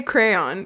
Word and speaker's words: crayon: And I say crayon. Do you guys not say crayon? No. Crayon. I say crayon. I say it's one syllable for me.